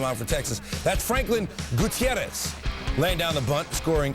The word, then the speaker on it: Gutierrez: It's Gutierrez.